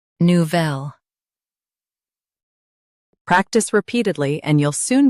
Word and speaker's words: Nouvelle: Emphasize vel with a soft nu. Nu. Vel. Nouvelle.